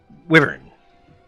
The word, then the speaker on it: Wyvern: How do you pronounce it? Wyvern? Wyvern? Wyvern.